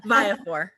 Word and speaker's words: Viafore: How is your name? Viafore. Viafore. Christina Viafore. I want to say it like an Italian.